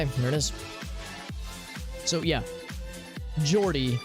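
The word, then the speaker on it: Geordie: it is so yeah jordy not not guillory yeah yeah with a soft g you can understand them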